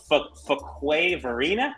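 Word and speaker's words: Fuquay-Varina: I'm going to go with Fuquay Varina.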